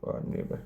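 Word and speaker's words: neighbour: Hate there नेबर, GHBOUR, नेबर। कितने तो spelling में साइलेंट है, ने बर, ये काम की बस, जी साइलेंट है, ओके।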